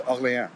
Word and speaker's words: Orléans: Orléans is spelled with an accent. It's a proper noun. It's Orléans. It's got an accent aigu on the E.